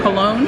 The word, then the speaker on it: Colón: Cologne. Like the fragrance. Right. Is there an accent on there? Yeah. Yes. I think they did put one. The accent makes it smell better. It makes from colon to cologne.